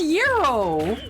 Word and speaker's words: gyro: It's It's Guyro. It's Guyro. That's a kebab. No, no, no. Cuz that's pronounced that's pronounced yuro.